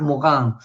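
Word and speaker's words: Morin: stéphane hessel y édgar morán édgar mogán pronunciado en francés sí este es franco-alemán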